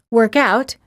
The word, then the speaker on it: workout: We say work out if it's a verb and workout if it's a noun.